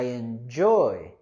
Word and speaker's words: enjoy: Okay, with the word enjoy, we want to go higher with our stress and intonation on the second syllable. I enjoy, I enjoy. And we also have our consonant sound in enjoy.